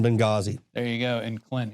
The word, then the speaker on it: Benghazi: The H is silent in Benghazi.